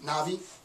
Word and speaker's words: Na'vi: think i pronounce it i think it's n a apostrophe vi navi navi we travel to pandora